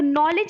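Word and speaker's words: knowledge: ज्यादा यहां पर मिस्टेक होती लोगों से तो नॉलेज एक ऐसा शब्द है जो आपके डीएलएड में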